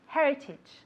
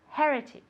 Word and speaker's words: heritage: good heritage heritage okay again be careful with that age okay it's not okay it comes from here the sound comes from here it's like you as if you were warming up your hands okay Heritage one more